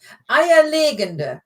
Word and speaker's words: eierlegende: Eierlegende, not legende. Legende, if you put the emphasis on the second syllable, so legende, that would be a legend. But this is legende, eierlegende, which is an egg laying.